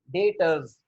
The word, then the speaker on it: debtors: DEBTORS, डेटर्स. बी यहाँ पर silent.